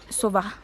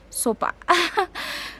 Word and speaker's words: sopa: you know, like because I normally say sova, but it's apparently it's sopa.